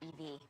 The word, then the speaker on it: EV: My dad went EV. It's electric. Don't be shocked. The guy who's eternally locked out of his email is going EV. Nice car. It's an Ev. Rhymes with Kev.